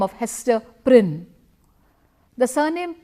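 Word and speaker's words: Prynne: the name of Hester prin the surname prin rhymes with sin prin sin I I know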